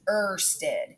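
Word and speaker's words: Ørsted: a data scientist named Hans Christian ersted that's pronounced ersted and it is likely that you are going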